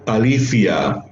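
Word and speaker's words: ἀλήθεια: Esta palabra griega de letreo es aletheia, pero así no se pronuncia alithia, así, con una forma lingüo interdental, al igual que la Z española.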